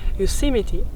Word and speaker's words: Yosemite: Le nom de cette vallée, prononcé Yosemite, provient d'une tribu indienne, les Uzumati, qui furent exterminés au début du 19e siècle.